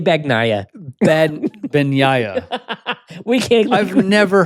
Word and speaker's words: Bagnaia: And sure enough, an NG together in Italian is like a ya sound. Bagnaia. Bagnaia. And if you were saying a G sound? Bagnaia.